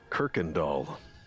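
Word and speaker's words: Kuykendahl: That road here in Houston is pronounced by the locals Kirkendall.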